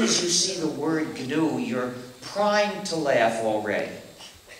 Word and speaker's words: GNU: of our operating system please do not follow the dictionary because if you say the the new system you'll get people confused you see we've been